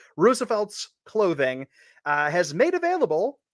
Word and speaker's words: RSVLTS: you're looking at right now and it is pronounced Roosevelt's uh but it's rsvlts but it's supposed to be pronounced Roosevelt's clothing uh has made available its next line